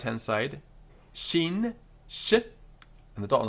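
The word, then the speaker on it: שׁין: with a dot on the right hand side shin shi and the dot on the left hand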